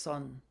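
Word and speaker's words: 선: And in fact, he was a monk in Korea, where Zen is pronounced Son. In China, of course, it's pronounced Chan.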